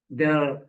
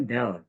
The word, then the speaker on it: del: Del. Ini bacanya sebetulnya kalau segitiganya terbalik itu bacanya del.